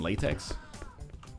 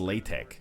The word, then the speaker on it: LaTeX: oh yeah is that old enough that i'm excused from persecution it's pronounced latex oh it's not latex it was latex when i was using it yeah they've updated since